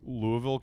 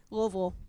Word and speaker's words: Louisville: You really just don't don't say any of the middle. Just say an L and then hang out for a while and then you have to say it like you have a lot of biscuits and gravy you're currently trying to eat in your mouth.